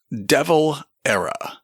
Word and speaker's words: de Valera: and then in parenthesis there's a helpful phonetic pronunciation saying it is pronounced devil era Irish president Aman dea's